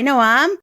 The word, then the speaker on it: Noam: today with my guest Noam God wiser hi Noam hi thank you for pronouncing my name properly I really appreciate it